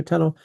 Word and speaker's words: tunnell: It's spelled with two L's, but anyway, it's not the normal way of spelling in English. But yep, so tunnel.